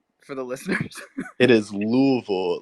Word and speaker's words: Louisville: It is Louisville.